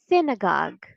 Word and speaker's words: synagogue: of this word is synagogue synagogue the first syllable is stressed sin synagogue in American